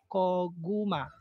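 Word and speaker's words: 고구마: First syllable is ko, second syllable is gu, third syllable is ma. Koguma.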